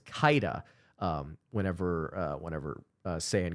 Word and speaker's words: Keita: He's one of the best international prospects in the game and that is Seyan Kaida. I have seen some people say Kea or Ka. Uh, I believe it is pronounced Kaida because every time I have